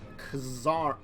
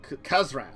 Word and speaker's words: Kazran: to tell us about kazar kazran I keep trying to say it wrong each time oh good I'm playing